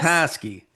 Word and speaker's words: Petoskey: It's Petoskey. Did I say it right? Petoskey, Michigan. Yes. Petoskey. With a little bit of a nasal because there's a Petoskey stone, right?